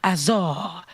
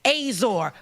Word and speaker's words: Azar: languages said it, and they were all saying Azar, right? Just like that. And then he put it in English, and English was the only way that was saying it wrong. Azor.